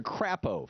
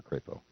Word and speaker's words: Crapo: fine to me senator crapo from IND from Idaho am I mispronouncing that I'm I'm I'm guessing he doesn't pronounce it that way it's crepo right crepo okay the Republican from